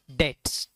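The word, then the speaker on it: debt: पे ऑफ ऑल his dates D ई बी टी बी इज साइलेंट्स इट इज अ डेट okay for example a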